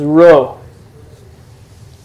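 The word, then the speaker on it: rho: It's not an R. It's a ro. It's a R, as in rod. It's your hard R sound.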